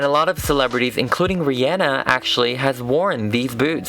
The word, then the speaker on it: Rihanna: And also just to say you guys have been correcting how I pronounce Rihanna. This is her pronouncing her own name. Hey guys, it's Rihanna. It's Rihanna. It's Rihanna. I know. It was just not me. I thought it was Rihanna, but it's Rihanna.